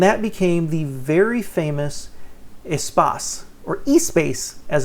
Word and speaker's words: Espace: Renault liked it, began working on it, and that became the very famous Espace, or E-Space as it's pronounced.